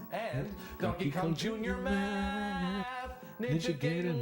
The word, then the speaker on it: Ninja Gaiden: He's saying Ninja Gaiden, but it's Ninja Gaiden. Ninja Gaiden is how it's pronounced.